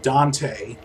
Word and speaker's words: Dante: that's how it's pronounced even though it's spelled dante it is pronounced dant so uh make of